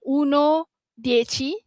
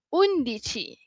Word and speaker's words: undici: Contoh kat sini nombor 11 dia bukan uno dechi tapi ada nama dia iaitu undici.